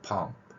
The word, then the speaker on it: pump: 이 발음 같은 경우도 훈민정음 표기로 이렇게 받침에 두 개의 글자를 저는 표기해서 이렇게 pump, 이렇게 할 수 있는데 이 발음이 일본인들의 영향을 받으면서 발음을 나타낼 수 없기